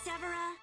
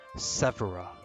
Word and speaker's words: Severa: The name's Severa. Oh wow, I've been saying her name wrong this whole time. Severa.